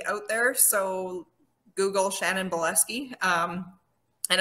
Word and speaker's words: Bileski: there so google shannon boleski um and it's spelled bile as in like and ski so bile ski bielski yeah um so shan